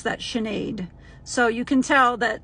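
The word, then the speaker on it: Sinead: s i n e a d and you pronounce that chenade so you can tell that Irish is AR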